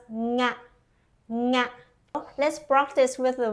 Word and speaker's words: nga: First, start with an English word, sing.